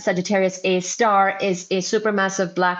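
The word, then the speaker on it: Sagittarius A*: Sagittarius a star. So it's the pronunciation the the way it's written is Sagittarius a a asterisk and the way we pronounce it is S Sagittarius a star is a super massive black hole at the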